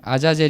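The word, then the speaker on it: עזאזל: 업자들도 여러가지 의견을 내고 있습니다 원래 이지 원어 발음을 보면 아사 제리 거든요 아자젤 이라서 근데 이제 에이즈가 염소 다 그리고 아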